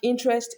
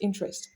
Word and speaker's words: interest: So there are some words that whether they are noun or verb, they are going to be stressed on the first syllable. So we have interest, interest, counsel, counsel, process, process, comfort, comfort.